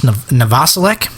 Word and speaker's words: Novoselic: So drummer of Nirvana, singer of Foo Fighters now, and then Chris Novoselic, I think is how you pronounce his name.